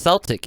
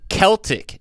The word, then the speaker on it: Celtic: of people don't realize it's not supposed to be pronounced celtic it's actually celtic it starts with the sea and it's supposed to be a whole irish thing because you know it's